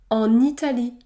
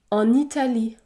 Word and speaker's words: en Italie: l'avons vu par exemple en Italie en Italie le N se prononce n n en Italie ou encore en achetant